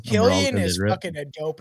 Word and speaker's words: Cillian: I get it because it's a C, so it seems like Cillian, obviously, but like I don't know why. Maybe it's just coming from Ireland. Maybe it is actually supposed to be pronounced Cillian.